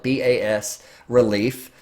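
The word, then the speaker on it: bas-relief: Another profile animal, this time a low relief, or bas, B-A-S, that's how you spell it, B-A-S relief sculpture. It's a French term.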